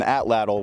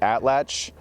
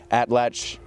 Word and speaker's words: atlatl: so now we're going to be using an atlal which is not even actually the correct pronunciation it's actually atlach it's a it's a naat word so it's